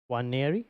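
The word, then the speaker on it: Nwaneri: At the moment, so I think the N is silent. Is it? Oh, so it's Ethan Waneri. Waneri, yes.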